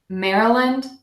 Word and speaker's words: Maryland: just read the word but we're actually going to say mayor ah Lunt Mehra one so I wrote mayor out like a female horse and the reason I did that was because that's how it's spelled and we want to make sure though that we are using this nice air route okay mayor lund Maryland